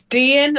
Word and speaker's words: Dian: So it's Dian like Ian with a Okay.